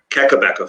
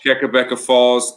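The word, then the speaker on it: Kakabeka Falls: Keckabecca Falls. Keckabecca Falls.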